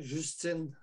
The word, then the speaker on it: Justin: Puis on récolte un premier ministre comme Justin Trudeau qui appuie tout ça aussi. Là. Oh, évidemment, Justine, il est pour... Je le prononce en français, Justine. Justin. Justine en français.